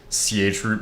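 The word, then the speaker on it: chroot: The last thing I'll have the actual pronun pronunciation but is ch root but people could just call it shroo bro.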